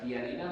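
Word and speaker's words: ptialina: omnívoros tienen talina y la talina lo pronuncio con p antes tiene eh la propiedad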